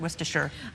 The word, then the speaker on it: Worcestershire: A viewer wrote in and said It's Worcestershire. Worcestershire, Worcestershire.